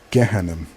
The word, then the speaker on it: Jahannam: And also I would like to make note that many Arabs pronounce the letter Jim as Geem, so it would be Gehannam, the exact same word.